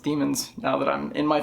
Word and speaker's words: daemons: I think technically it's pronounced demons now that I'm in my 30s and I'm a better reader.